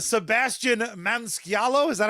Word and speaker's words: Maniscalco: Maniscalco. Gotcha. I'm fucking it up. Your mispronunciation was so bad that mine has permanently been altered.